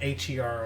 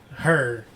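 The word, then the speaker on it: H.E.R.: and there's a version with um him and HR on it her which the one with I like both her as people pronounce it it's really h r but it's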